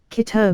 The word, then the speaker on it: Keter: Keter wasn't named after the Kabbalah but a German doctor, for instance. So that's why it rhymes with Peter and not better.